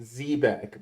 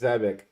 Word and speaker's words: Zebec: Zebeck as Zbeck because technically it is pronounced Zbeck, but the CEO says Zebeck, so I'm trying to say it the way that the CEO says it.